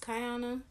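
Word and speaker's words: Kiyonna: It's spelled K-I-Y-O-N-N-A. It can be pronounced Kiana, but it's not. It's pronounced Kiana. My name came from my sister, who for some reason decided to put a I and a Y together. But like I said, it's pronounced Kiana, not Kiana. No other way but Kiana.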